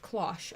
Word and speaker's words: cloche: Pronounced cloche.